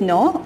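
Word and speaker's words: gnaw: next is some animals nor their food nor means it's pronounced as no although the spellings are g and a w but the correct pronunciation is no hummus we'll pronounce it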